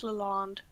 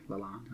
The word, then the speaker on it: Lalonde: Rose Lalonde. How do you say that? Rose Lalonde. Okay, Lalonde.